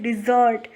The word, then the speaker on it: dessert: लेकिन अगर खाना खाने के बाद में कुछ मीठा खाया जाता है तो उसे बोलते हैं डिज़र्ट। स्पेलिंग्स में भी डिफरेंस है, DESERT डेजर्ट यानी रेगिस्तान, और DESSERT यानी खाने के बाद में अक्सर जो कुछ मीठा लिया जाता है।